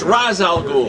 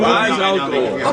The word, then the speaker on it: Ra's al Ghul: What is the exact pronunciation of Ra's al Ghul? It's Ra's al Ghul. Yeah, There it is. Ra's al They Ghul. tried you nuts in the movie. Ra's al Ghul.